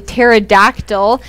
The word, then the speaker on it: pterodactyl: one is called a pterodactyl and i know that because it has a weird spelling it's actually spelled with a p it's p t right silent and cole what do